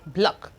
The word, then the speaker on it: block: So we have them like block, block, block. You can see that the C is actually silent.